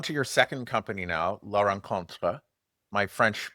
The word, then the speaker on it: La Rencontre: So you're on to your second company now, La Rencontre. My French pronunciation is horrible, so say it the correct way for everyone, please.